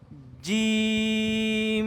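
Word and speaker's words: ج: না এখন আমরা বলবো দেখো বৈকার্য আছে না বাংলাতে বর্গার জ্য বর্গকার্য এর মত করে এভাবে শক্ত করে উচ্চারণ করতে হবে জিম জিম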